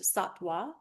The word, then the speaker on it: sattva: And then slightly elevated but different is satwa. S a t v a. Sometimes it'll be pronounced satwa.